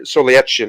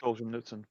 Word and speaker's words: Solzhenitsyn: They don't understand somebody like Alexander Solzhenitsyn, I think is how you say his name, that long Russian nonsense. Alexander Solzhenitsyn.